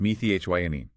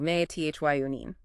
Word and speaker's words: methionine: That's me t h i o n i ne. Pronounced meth yine. Exactly. May t h yunine.